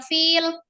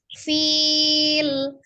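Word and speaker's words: فيل: Pada saat di akhir itu jangan langsung menghilang fil. Nah, tidak, tapi fil. Letakkan terakhirnya itu di akhir makharijul huruf lamnya diucapkan ya.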